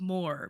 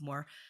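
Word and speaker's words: Moher: I've seen before uh The Cliffs of Moore maybe you've heard of them before uh not spelled like that they m o h e r they're in a lot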